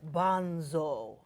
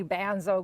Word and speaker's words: Banzo: model behavior hey all she told me to say it like that I'll get a correct pronunciation of my name everybody kept calling me bands Oh growing up and it's like you're murdering my name so are you you're